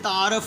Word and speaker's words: تعارف: جیسے کہتے ہیں میرا آپ سے تعارف ہوا تھا. اب تعارف لفظ غلط ہے، رے کے اوپر پیش آئے گی.